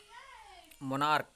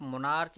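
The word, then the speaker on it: monarch: सी एच है, और यहाँ पे इसका उच्चारण क हो रहा है, यहाँ पे च नहीं हो रहा है।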